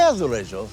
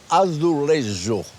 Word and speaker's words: azulejo: C'est azulejo. Moi, je dis sous les roses pour faire genre, mais en fait, je fais genre du tout. Je suis totalement nul. Comment non. on prononce vraiment? Non, azulejo.